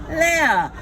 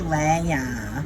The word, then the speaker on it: Leah: So I was like, I'm gonna be Leah, which is actually my Hebrew name, Leah. But the way the Americans say Leah, then it sounds like you're gonna lay her.